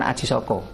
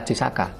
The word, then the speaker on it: Aji Saka: ada pelintiran Dengan mengatakan Aji Soko itu pemerintah yang benar adalah Aji Saka bukan Haji Soko cara bacanya Jayabaya bukan